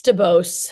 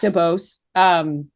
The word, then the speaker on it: DeBose: That is how you pronounce her last name, right? I believe it's DeBose. DeBose.